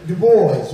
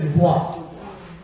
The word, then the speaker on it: Du Bois: You see, the vowel is ah, not a. So because we don't know how to pronounce the vowels correctly, we say Du Bois. We don't say Dubois. But his name was Dubois.